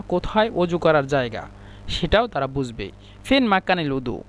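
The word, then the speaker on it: سوق: সুককে তারা সু বলে মানে কফকে হামজা, এই জন্য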